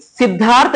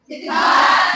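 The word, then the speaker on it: Siddhartha: क्या था सिधा साधु सिद्धार्था या सिद्धार्थ सिद्धार्थ उसने बट जो स्पेलिंग होगी वो होगी एस I double D एच ए आर टी एच ए यही करेक्ट होगा य इसको पढ़ेंगे सिद्धार्थ जैसे लिखते थे पहले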